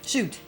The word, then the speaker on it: Shute: Shute. Dr. Shute. Mm-hmm. Like you shoot a gun.